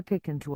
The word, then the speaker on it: Picanto: its micro car to pick into a certain way word is it once the can't part to be said as you say canteen and definitely not in the way you'd say can't it's a positive perception